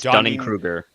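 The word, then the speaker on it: Dunning-Kruger: people duning cing um which is not how you pronounce this no dun it's Dunning Krueger krer Dunning Krueger effect yes I call it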